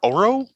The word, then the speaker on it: Oro: sir uh Carmelo Hayes versus I think our pronouncing his uh first name right or Oro I thought you were gonna say Nathan it's